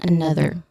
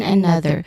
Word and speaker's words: another: We're gonna focus on that, and we're gonna focus here on another. Again, another. So here the stress. This is a stress. No, another. The stressed syllable here is on the second syllable na.